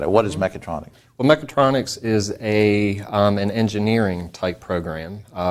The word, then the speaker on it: Mechatronics: This is what fascinates me because I saw in your email something, and I want to make sure I had it pronounced right. Mechatronics, right?